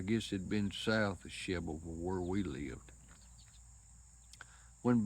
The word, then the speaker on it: Shelbyville: Anyway, you got Shelbyville, Tennessee, or Shedville, according to who it is you talk to, how they pronounce it. Could be Shovel, Shedville, Shelbyville is how it's pronounced, spelt, and all.